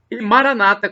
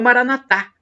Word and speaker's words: Maranata: eu aí te atender Maranata como dizem os evangélicos ou e é protestante com a tônica na penúltima sílaba ou Maranatha como dizemos nós católicos com a tônica na última sílaba não importa porque somos